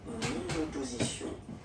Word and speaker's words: mon opposition: Well, basically feminine, but then it starts with the O. Mon opposition. Mon opposition. You make this link.